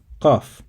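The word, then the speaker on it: ق: To pronounce it, you have to place the back of your tongue near the uvula, and then you tighten your throat slightly to create a constricted sound.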